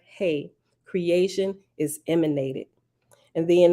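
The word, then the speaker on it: ה: letter of the illustration another letter hey pronounced hey is the Divine daughter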